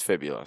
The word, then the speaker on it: fibula: a broken fiblia it sucks how do you pronounce that geophibia there we go broken fibia broken it's fibula sorry about that broken fiblio and that sucks